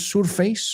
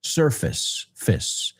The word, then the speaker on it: surface: Cuidado, no es surface, o como lo dijiste, es una palabra, de hecho, mucha gente lo pronuncia mal. Sir, como señor, surface, surface.